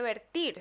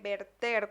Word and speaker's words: verter: entonces del verbo verter no se dice vertir se dice verter cuando hablamos de derramar